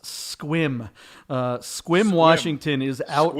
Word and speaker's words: Sequim: people mistake it for sequim but it is pronounced squim uh squim washington is